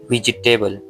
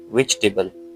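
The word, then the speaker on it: vegetable: हमारे पास है वेजिटेबल लोग क्या कहते हैं वेजिटेबल जो कि बिल्कुल भी गलत है इसको आपने क्या बोलना है करेक्ट प्रोनाउंसिएशन में वेजिटेबल उर्दू में भी हम क्या कहते हैं वाऊ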